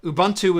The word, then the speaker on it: Ubuntu: Ubuntu is the way you would say it in English, pronounced vernacular, if you spelled that word out and pronounced it.